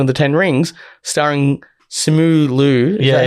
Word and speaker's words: Simu Liu: First Marvel film with an Asian superhero, Shang-Chi and the Legend of the Ten Rings, starring Simu Liu. Is that how you pronounce it? Yeah. Simu Liu.